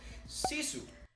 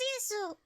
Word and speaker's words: Sisu: Apparently it is pronounced, according to Therese, it is pronounced Sisu. Yes, this is Sisu.